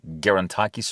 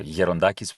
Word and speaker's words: Gerontakis: If you Google Aris Gerontakis or Gerontakis, which is the original pronunciation, you can find several